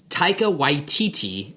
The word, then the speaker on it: Taika Waititi: From Collider, Thor Ragnarok director Taika Waititi, I'm pretty sure that's how you pronounce that name.